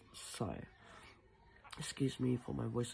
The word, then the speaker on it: Sai: Um I mentioned on my Tik Tok his name was Sky like S KY but it's actually pronounced Sai.